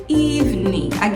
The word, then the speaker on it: evening: então aqui good evening evening de novo o g no final não é pronunciado e você pode até